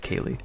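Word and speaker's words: KQLY: some points even though everyone is mispronouncing kle it's actually pronounced Kaye but you know we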